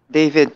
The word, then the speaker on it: David: How do I pronounce that? David po, Tito Boy.